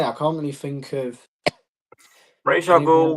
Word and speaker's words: Ra's al Ghul: But personally, as much as I love Raz, because I personally don't pronounce it Ra's al Ghul, I pronounce it Raz al Ghul.